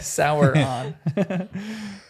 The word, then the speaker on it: Sauron: Sauron. Yeah. Sauron. Sour. sour on.